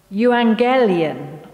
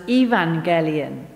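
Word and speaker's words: εὐαγγέλιον: It was a word which in Greek was euangelion, or later pronounced as evangelion.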